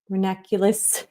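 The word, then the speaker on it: ranunculus: So, I think my plan of action is I'm going to paint this rose and this uh renaculous, that's the way it's pronounced.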